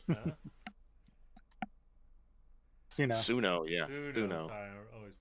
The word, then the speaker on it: Suno: Sonos, huh? Suno, yeah. Suno. Sorry, I always pronounce everything wrong.